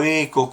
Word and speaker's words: ECHO: se encontraron y los virus es como se pronuncia eco y no he hecho eco no se encontraron